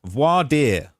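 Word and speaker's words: voir dire: uh pronounced vo voad voadier voadier that's how it's pronounced voad um so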